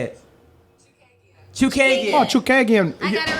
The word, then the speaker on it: Chookagian: Chookagian.